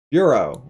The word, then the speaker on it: bureau: Bureau has 2 syllables. There's a bureau, there's a boo and a row.